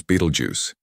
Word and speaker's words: Betelgeuse: This giant is a red super giant known as Beetlejuice. sometimes mispronounced as voju or vtoru, a stellar enigma whose sheer size, unpredictable behavior, and pulsating nature continue to puzzle scientists.